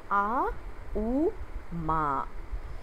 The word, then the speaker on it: Om: om we all know the OM is pronounced in a u Ma and it comes as